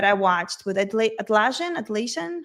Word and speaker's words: Atlassian: Atlasian, how do you say it? Atlassian.